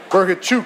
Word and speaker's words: Bohachuk: there you go sirge b chuk as he told me to say his name it's a chuk at the end right from Ukraine Manny